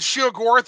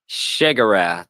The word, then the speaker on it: Sheogorath: Sheogorath, right? Sheogorath is how they say it in Morrowind. Shigarath. Okay, yeah, it is. Oh, I forgot. I'm being an Inwa, aren't I? You're using the Oblivion pronunciation there.